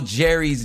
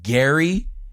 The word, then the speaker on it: Gerry: Even though Jerry's name is pronounced Gary, well, we say it like Jerry.